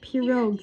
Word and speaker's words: pirogues: pronounced pirogues.